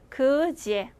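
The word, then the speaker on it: где: 그 뒤에라고 읽어야 하지만 자, 러시아어 발음 규칙 중에 대와 때 뒤에 일단 얘가 온다고 할 때는요. 대가 아니라 디귿이 지읒으로 때가 아니라 쌍디귿이 아니라 쌍지읒으로 나서 소리가 납니다. 그래서 그지에 자 얘도 한국어로 일단 써드릴게요. 그지에 라고 하면은 어디서 라는 의문사예요. 그래서 앞으로 대와 예가 같이 있으면 꼭 제라고 읽어주시는 겁니다.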